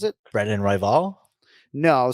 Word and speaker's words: Royval: he pronounces it brennan rival no so you're not emphasizing the second syllable syllable excuse me it's royvall and this is a